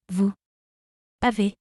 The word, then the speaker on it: vous avez: Here the letter S is pronounced as Z.